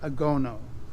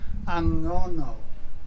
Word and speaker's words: Angono: ago yeah and so this town is called agono aono yeah I mispronounce it it's angono yeah Ango angono and angono means ano and